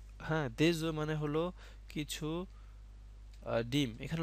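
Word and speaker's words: des œufs: পানিচুপ বুইয়ে দে হ্যাঁ দেজু মানে হলো কিছু ডিম এখানে লক্ষ্য করুন এফ আছে কিন্তু এফ এর উচ্চারণ হয় না বলতে হয় দেজু কিন্তু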